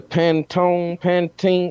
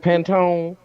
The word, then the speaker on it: Pantone: It's the Pantene. How you say it? Pantone.